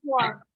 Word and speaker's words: sword: The night carried a sword. The W is silent. Bacanya jadi gimana nih? Kalau W-nya nggak bunyi.